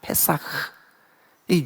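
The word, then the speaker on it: פסח: 그래서 이게 뛰어넘었다 패오 히브리 말로는 그것을 사라고 발음합니다 페사흐이 유월 됐다는 뜻입니다 그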